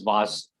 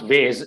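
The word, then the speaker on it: vase: by some people but i the commonly accepted pronunciation is vas because the sc becomes kind of z z sound was okay the other reason obviously to pronounce it if if you pronounce ways it will sound like w-a-y-s what is the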